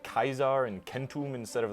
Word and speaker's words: centum: How do we know that Romans originally always pronounced the letter C as a K sound? Like, how do we know they originally said Kaisar and Kentum instead of like Caesar and Centum?